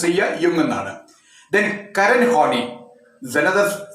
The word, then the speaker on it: Jung: psychology of Jung, that means Carl Jung, Jung, pronounce Jung.